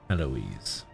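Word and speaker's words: Héloïse: How do I pronounce that? Heloise? Heloise.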